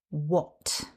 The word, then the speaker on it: what: We write the word with an h, but in current English use that h isn't pronounced.